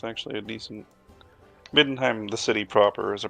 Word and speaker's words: Middenheim: Midenheim.